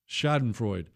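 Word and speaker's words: Schadenfreude: Not in the shod and fraud. Shod and fruit. Hey, Chris, how do you say that word? Shodenfro.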